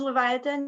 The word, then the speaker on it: Leviatin: welcome sorry uh leviatin is how you say your last name i i i actually use leviathan yeah it's um uh the international uh version of uh live vietnam and so